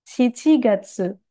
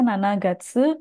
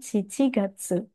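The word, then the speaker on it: 七月: Mei, Gogatsu, Juni, Rokugatsu, Juli, Shichigatsu. Tidak dibaca Nanagatsu, melainkan Shichigatsu.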